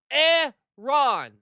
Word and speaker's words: Iran: That letter could never possibly make an E sound next to AN R WITH NO OTHER letter there. It is Eron.